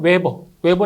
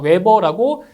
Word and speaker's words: 웨버: 단위 로 는 Wb 를 사용 하는데 , 이는 " 웨버 " 라고 읽습니다 . 그래서 우리 는 그것 을 베버로 표현 합니다 .